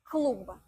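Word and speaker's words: клуб: To say klub, B, you need to use your voice when you pronounce the end of this word. And in fast speech, it's pretty difficult. That's why naturally you happen to pronounce P instead. Please compare the way it's written and the way I would pronounce it as a native speaker.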